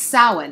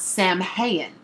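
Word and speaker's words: Samhain: with pagans and witches would know that it's pronounced sin and not Sam hayen but if all you're doing is looking up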